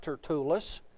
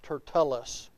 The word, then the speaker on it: Tertullus: It is not Tertullus. It is Tertullus. So I'm looking in the Bible here in my small book. So I'll just stick with what I've always called it, Tertullus.